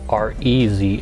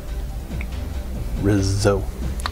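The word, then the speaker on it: Rizzo: way his name is not spelled r e z o it's r i z z o Rizo Riz not Rez RZ I know I'm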